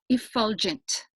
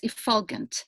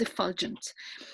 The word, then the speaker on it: effulgence: the word of the evening is pronounced effulgent I've heard a couple of times that it's been pronounced as if foggins but if you watch